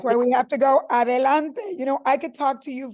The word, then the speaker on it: adelante: For those of you that don't speak Spanish, they're watching, it's like, you could say adelante.